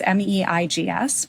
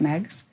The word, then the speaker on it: Meigs: Meigs, and that's Meigs. But in Chicago, we pronounce it Meigs.